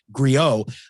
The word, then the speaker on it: griot: And we're chatting with Jeremy Pelt, author of the new book, and now I'll pronounce it correctly, Griot, interviewing Black jazz musicians.